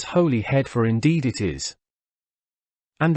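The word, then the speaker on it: Holyhead: and town of Anglesey how old then that we should all persist in pronouncing hollyhead as Holly head perhaps we do it out of guilt for our refusal acknowledging the existence of this her head let us then pronounce it properly as holy head for indeed it is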